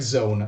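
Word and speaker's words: Zawn: Zone it's pronounced like it's pronounced like Zone it's just written differently no I guess you'll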